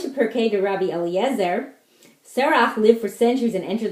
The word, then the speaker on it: Serach: So Serach, I think that's how you pronounce her name, S-E-R-A-C-H, Asher's daughter, sang to Yaakov and